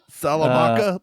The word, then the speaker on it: Saldana: So on the person's name that I could not pronounce, Zoe Salamaka? Saldana.